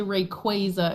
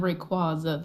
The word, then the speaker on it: Rayquaza: people how to say Rayquaza instead of Rayquaza. Like It's Rayquaza. I refuse to accept that. No, it's Rayquaza. I've always said it to the physicist. It's named after quasar.